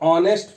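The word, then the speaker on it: honest: बट इसका pronunciation करें तो ऑनेस्ट फार्मर बोल रहे हैं, तो ऑनेस्ट ये ए और एन का यूज ऑनेस्ट मतलब ये जो होता है तो वो उसके वर्ड के प्रोनाउंसिएशन के अकॉर्डिंग होता है। तो जब हम हिंदी में इसको प्रोनाउंस करते हैं तो प्रोनाउंस करने पे ये आता है ऑनेस्ट।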